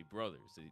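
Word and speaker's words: Bros.: uh Warner Brothers and even though it says Bros you have to say Brothers they still mean Brothers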